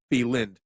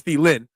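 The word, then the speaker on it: Thielen: Adam thelin thin now I always had a d at the end of thind it's the Lynn um sorry marshan you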